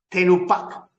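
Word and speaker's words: תנופה: La palabra ofrenda en hebreo se dice tenupak. T-E-N-U-P-H-A. Tenupak. Y la palabra diezmo se escribe en hebreo maaser.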